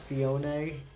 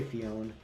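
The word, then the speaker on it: Phione: can start my and i know it's pronounced fione i guess i say fiona i need to do my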